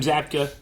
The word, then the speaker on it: Zabka: William Zabka, is that how you say his name?